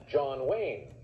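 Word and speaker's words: Chon Wang: jackie chan plays chong wang pronounced john wayne in this film funny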